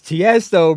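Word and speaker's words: Tiësto: Tiesto, it's Tiesto, bro.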